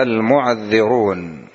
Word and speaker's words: المعذرون: من الأعراب، وهنا: وجاء المعذرون. عرفنا المعذرون فيها قراءات، يعني بالتشديد: وجاء المعذرون، وجاء المعذرون، وجاء ماذا بتشديد العين والذال، كيف تنطق صلاح؟